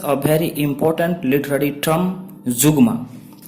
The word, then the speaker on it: zeugma: I am and today we shall discuss a very important literary term Zugma. Spelling is Zeugma and the pronunciation is Zugma. Zugma.